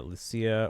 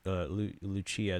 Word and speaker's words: Lucia: Now we we got that announcements for Lucia or Lu Luchia depending on how they want to pronounce it depending on which language they want to go by.